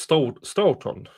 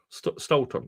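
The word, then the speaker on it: Stoughton: and probably more town's name is pronounced Stoton Stoton.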